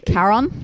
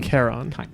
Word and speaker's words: Charon: I think it's pronounced like a k sound at the start, right? Charon. Yeah, it can be stylized either with a C or a K, and it is Chiron. Charon.